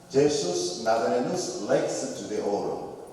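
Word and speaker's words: Iesus Nazarenus Rex Iudaeorum: 앞에 있는 이런 글자가 I처럼 보이죠. I가 아니고 영어식으로 표현하면 J로 표현을 합니다. 그래서 이 글귀의 뜻은 이렇습니다. 제수스 나자레누스 렉스 주데오로, 유대인의 왕 나자렛 예수, 이런 뜻입니다.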